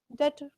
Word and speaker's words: debt: B silent. Is not to be pronounced. That. अब क्या बना? Debtor.